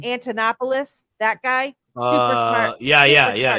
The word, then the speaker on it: Antonopoulos: the space him and andonopoulos I always say his name wrong those two I was listening to a lot you know I'm talking about um Antonopoulos that guy super smart